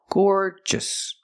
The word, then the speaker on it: gorgeous: floor and more Gore gorgeous just the stress is on the first syllable so don't say gorgeous make it shorter gorgeous gorgeous gorgeous means